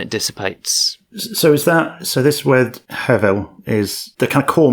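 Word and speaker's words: הבל: And so the Hebrew word behind that's hevel, something pronounced a little bit like that.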